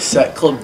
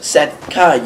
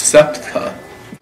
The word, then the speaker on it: SETCA: Now, have you part of Set Club too? Yes, but it's pronounced Setca, you good-for-nothing idiot. Jeez, I'm sorry, it's Setca.